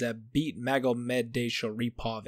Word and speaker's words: Zabit Magomedov: Now, the main event for the prelim card on ESPN is Jeremy Little Heathen Stevens versus Zabit Magomedov. And yes, I pronounced that correctly.